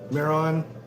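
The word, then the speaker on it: Mehron: Miron, you can find it on Amazon.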